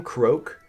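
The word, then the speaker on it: Croque: is that his name croak he's a frog named croak but it's spelled CRO quue okey okay hey Brewster we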